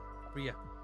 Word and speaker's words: Rhea: Rhea. The H is silent.